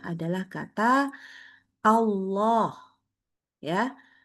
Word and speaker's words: Allah: selalu membacanya adalah kata Allah. Ya, Allah itu harus kita ingat depannya itu Hamzah. Maka bacanya A. A. Lalu Allah itu dilanjutkan dengan huruf lam. Lamnya bacanya tebal.